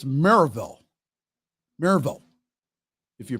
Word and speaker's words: Maryville: still planned for Saturday at now it's not Maryville okay that's not how the locals pronounce it it's Merrillville Maryville if you pronounce it quickly Maribel at